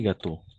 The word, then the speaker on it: gâteaux: continue exactement attention un gâteau et les gâteaux on va prononcer de la même façon mais attention avec le X d'accord oh oh exactement